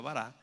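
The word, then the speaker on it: ברא: la tierra están usando un verbo en hebreo que se dice se llama varado se pronuncia vará que la característica de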